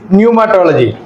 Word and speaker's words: pneumatology: तो आता है न्यूमेटोलॉजी में पी का आवाज आता है हमको सुनाई नहीं देता we can't hear the P sound there but इट इज न्यूमेटोलॉजी what is mean by